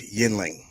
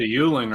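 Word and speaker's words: Yuengling: How do you pronounce this, sir? That is a beer that is named Yinling. All right. So Jacob says Yinling. All right. Emilio, how do you pronounce it, sir? That's a Yuling right there, man.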